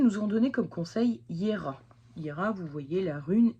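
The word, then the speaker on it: Jera: Les runes nous ont donné comme conseil Hiera. Hiera, vous voyez, la rune est ici. Alors oui, ça s'écrit Gera, mais ça se prononce Hiera.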